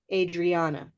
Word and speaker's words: Adriana: on the letter Adriana Adriana and you like Olive so the answer to your question Olive sock Adriana Olive sck Adriana yeah how many many syllables Adriana four yeah Adriana four okay thanks you're welcome